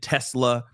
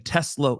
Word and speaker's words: Tesla: I'm used to saying Tesla, y'all. But apparently, I've been saying it wrong. It's Tesla. So, there you go. Now, now I'm forever changed. All right. It's Tesla. It's Tesla, just so you know.